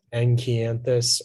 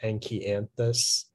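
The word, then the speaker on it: Enkianthus: Yeah, the only pronunciation is, there's two slight pronunciations. It's enchianthus or enchianthus.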